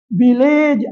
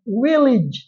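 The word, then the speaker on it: village: பெக்கேஜ் அல்ல package package sausage அல்ல sausage sausage வில்லேஜ் அல்ல வில்லேஜ் வில்லேஜ் அடுத்ததாக மூன்றாவதை பாருங்கள் இ வருகிறது அங்கே ஷார்ட்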